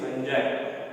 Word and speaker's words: fungi: Some students are speaking fungi also. So it is not correct. The pronunciation is fungi.